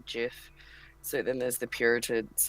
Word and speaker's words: GIF: way you Jeff give there's a debate most people say gift but it's actually was originally meant to be Jeff so then there's the